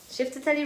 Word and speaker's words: Chiftitelli: So, Shifted Telly Rhythm it's written in different ways. I write it with E-E, C-H-I-F-T-I-T-E-L-L-I. But it's written in different ways phonetically. It can be with an E or I.